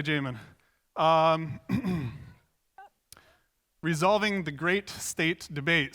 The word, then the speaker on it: Jamon: bit about me I'm Jamin that is how you pronounce my name Jamin if you're from Spain you can say home owned otherwise otherwise say Jamin resolving the great state